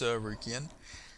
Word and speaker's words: Sarukian: I get shit for pronouncing it the wrong way. It's Sarukian.